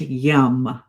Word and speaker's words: yam: And the sound associated here is yam but pronounced yum.